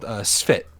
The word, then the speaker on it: Sfphit: It was called Sfit. Sfit? Yeah, Sfit. Sfit. Like, how's it spelled? Like how's it spelled? SFPHIT. Oh, Sfit. SFPHIT? Yeah, so you know how you pronounce specific? Just do that.